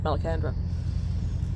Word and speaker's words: Malacandra: Malacandra, am I pronouncing that right? Yep, Malacandra.